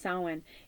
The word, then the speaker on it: Samhain: from now until Samhain, October 31st, which some call Day of the Dead or Halloween, but it's it looks like Samhain, but it's pronounced Samhain.